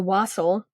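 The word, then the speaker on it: wassail: when he had the the wasle which I'm told rhymes with fosle um he was like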